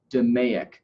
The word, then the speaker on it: DMAIC: is organized by the acronym DMAIC this is pronounced 'da Mayock and this is a Six Sigma term this